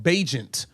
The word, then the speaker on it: Bagent: I've been saying his name wrong. Bagent.